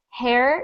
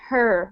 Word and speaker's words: her: so that's eigor so just make sure you are not saying hair you were saying her when you read her her her good next